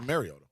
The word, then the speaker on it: Mariota: How do you say it? Mario. Like Mario. Mario. Mar. Oh, Mariota. Yeah. Okay. Like Mariota. Super Mario. I would Mario. say Mariota.